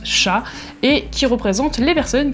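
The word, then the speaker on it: 者: arts en général et le kanji mono qui ici se prononce sha et qui représente les personnes qui exercent une activité, qui exercent un métier.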